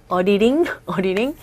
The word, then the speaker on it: auditing: auditing이 아니라 어떻게 발음하고 있습니까? auditing. 모음과 모음 사이의 디음, 또 모음과 모음 사이의 티음, 다 R에 가까운 소리가 난다고 말씀드렸죠?